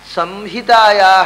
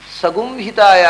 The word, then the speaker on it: ಸಂಹಿತಾಯಾ: ಆದ್ದರಿಂದ ಸಂಹಿತಾಯಾ ಅನ್ನುವುದನ್ನು ಸಗುಂಹಿತಾಯಾ ಅಂತ ಹೇಳುವಂಥದ್ದು ಎಲ್ಲ ವೈದಿಕರು ಇವತ್ತು ಉಚ್ಚರಿಸುವಂಥದ್ದು ಅವೈದಿಕವಾದ ಉಚ್ಚಾರ.